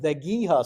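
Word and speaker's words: Dhegiha: But you have this other branch of the Sioux, and the spelling there is a little bit unusual. It's pronounced Vegiha Sioux.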